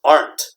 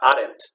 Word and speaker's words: aren't: you aren't crazy or remember this pronounced aren't not added okay this aren't you